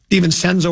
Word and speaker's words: DiVincenzo: DiVincenzo or DiVincenzo?